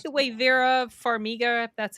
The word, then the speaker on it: Farmiga: I liked it I like the way Vera Farmiga that's how you say her name the way